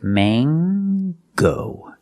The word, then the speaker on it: mango: Use the long A. It's not mango and it's not mango. In English, it is mango. With this word, we pronounce the hard G sound. So it's mango.